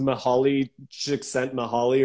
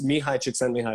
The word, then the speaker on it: Mihaly Csikszentmihalyi: Yeah, but it's like it looks like it's pronounced Mihaly Csikszentmihalyi or something. I don't know, but it's Mihai Csikszentmihalyi is how you pronounce it.